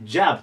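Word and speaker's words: job: ですで次も日本語で言うとジョブって言いたくなるんですね O だしただ初音はジャですねジャブとなりますジャブでこれで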